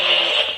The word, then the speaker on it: Dooley: Okay, you pronounce it Dooley.